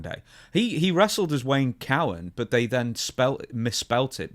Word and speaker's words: Keown: And but he always pronounced it Cowan.